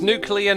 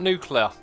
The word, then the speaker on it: nuclear: It's nuclear, not nuclear, says Cuplex.